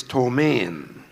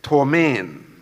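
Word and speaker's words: ptomaine: poisoning the word is torment two men t o m a i n so Main I'm sorry that's an incorrect spelling it has a silent letter p t o m a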